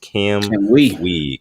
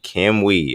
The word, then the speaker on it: Cam UI: This one coming in from Cam UI, pronounced Cam Wee. Cam Wee.